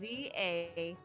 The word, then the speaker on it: Zasne: it's ZASNE. That's how you spell it.